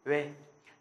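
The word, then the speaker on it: ㅚ: Ôi, đúng không? Rồi. Nhưng mà tiếng Hàn thì không phải là ôi đâu.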